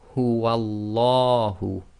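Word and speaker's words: هُوَ اللَّهُ: Okay, so before the name of Allah we have the waw with the fatha, so that makes the lam of Allah go tafkhim, i.e. full mouth, giving the sound of la as in the English word large.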